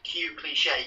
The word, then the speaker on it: Cuecliche: way the name is Q cliche cliche is pronounced like the French cliche yes